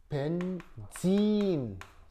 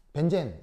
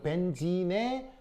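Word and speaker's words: benzene: 벤진이 원래 발음이고 벤젠 이거는 일본 발음입니다. 아시겠죠? 알겠죠? 자, 어쨌건 그래서 얘 이름은 벤진이에요. 벤진. 그 벤진에 뭘 할 거냐면 Br2 처리를 할 건데 CH2Cl2 속에서 하는 거예요.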